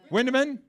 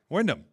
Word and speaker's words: Windom: Wandom wind. Windaman. Windom. Windom. I'm sorry. I was I was going phonetically by how it's spelled on the answer sheet. Windom. There you go.